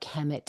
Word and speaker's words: Kemet: So it comes as KMT. Kemet, it meant the Black Land,